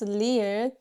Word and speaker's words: ㄹ: Some people think this sounds like an R, but it's not. When you pronounce leer, you should never curl your tongues to the side like that. Instead of that, think this is tongue and just bend it slightly like that and tap it lightly, like this, okay?